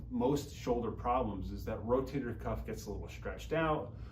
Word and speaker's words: rotator cuff: People mispronounce it or misunderstand it. They say rotary cup or any other sort of variation of that. But really what the rotator cuff does, it holds the